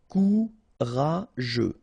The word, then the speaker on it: courageux: Final X not pronounced. G-E-U together. They will give you this je. Okay. Courageux.